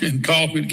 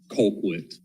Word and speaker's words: Colquitt: In Colquitt County? Colquitt. Well, yeah, it's Colquitt. That's it. That's Colquitt, yeah. That don't make sense. That's how they pronounce it, is Colquitt County.